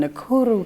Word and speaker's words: Nakuru: The deputy from Nakuru County, did I say it right?